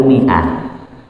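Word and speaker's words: مائة: Mimnya harokatnya kasrah, tapi setelahnya ada huruf mad ya, alif. Nah, bacanya gimana dia? Panjang apa pendek? Pendek. Tapi ada huruf mad setelahnya. Nah, ini nggak dianggap huruf mad karena memang sebelumnya harokatnya kasrah.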